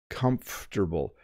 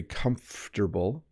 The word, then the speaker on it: comfortable: here it's very comfortable comfortable so the M and F slide together very comfortable and you don't over pronounce every syllable it's comfortable I have